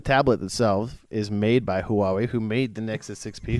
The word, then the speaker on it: Huawei: look at when I went in fatso no Hawaii who why who for the whole way they made they made in the Nexus 6p